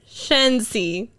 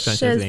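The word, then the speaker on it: Szczęsny: Wojciech Shensi.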